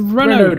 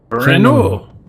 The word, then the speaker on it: Renault: Renault. See if I need any repairing. The only thing I know about me. the French language Engine. is that you don't pronounce the last letter.